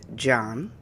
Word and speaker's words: Jain: So tell me about, you said that you were raised John. That's how you Mhm. pronounced Yeah, it. I mean, some people say Jane, but yeah, Yes, John. I say John.